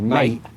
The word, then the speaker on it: mate: when you say mate do you ever say it quite quickly and do it with a kind of glottal stop to where you don't actually pronounce the T but you say mate actually yeah yeah I